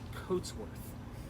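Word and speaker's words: Cotesworth: It was C-O-A-T, just like we wear a coat. Right. But the son of Eliza, Charles, goes by Charles Coatsworth. So it is C-O-T-E-S Right. Worth. So it's phonetically the same, but why would I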